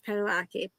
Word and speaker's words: Padalecki: And Padalecki. yes, Padalecki.